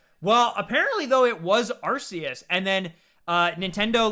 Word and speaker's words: Arceus: like so they were just like nope it's arceus now but i i know what you're saying